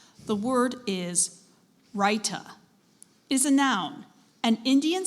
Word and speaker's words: raita: near peterward right uh are there any alternate pronunciations I do have one Ryuta all right the are